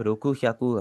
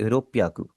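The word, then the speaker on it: ろっぴゃく: 600 को आप रोकू श्याकू हरगिज़ नहीं बोलेंगे। आप इसे बोलेंगे रोपियाकू।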